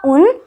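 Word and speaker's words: un: अब आप ध्यान से देखोगे तो कितने सिमिलर साउंड करते हैं ना, फ्रेंच का उन और इंग्लिश का 1।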